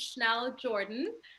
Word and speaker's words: Schnell Jordan: a pleasure um hi everyone my name is schnell jordan so you pronounce it correctly don't worry um i am